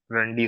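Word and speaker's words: Randy: रंडी ऑटन था। आई मेंट, मैंने रैंडी को रंडी प्रोनाउंस किया।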